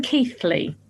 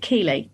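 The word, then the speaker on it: Keighley: looking for this um we're call we're saying keithly now I got told off by Sarah for calling it key um because it's spelled key k e i g h l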